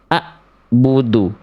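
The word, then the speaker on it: أعبد: Yang tepat adalah yang A. Kenapa yang B salah? Karena bunyi yang dibaca di pelafalan B jelas-jelas itu terputus dan hamzah. A'budu.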